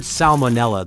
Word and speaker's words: salmonella: In the word salmonella, the first letter L is pronounced despite many English speakers tending to soften or skip it in casual speech.